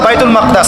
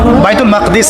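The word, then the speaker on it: بيت المقدس: এবার এই বোরাক চলে গেল বাইতুল মাকদাস। এটা কোথায়? বাইতুল মাকদিস, বাইতুল মাকদাস না, বাইতুল মাকদিস।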